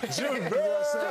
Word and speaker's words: JaVale: The infamous, JaVale McGee. Everybody. Shout to JaVale. You got to say it right, though. JaVale.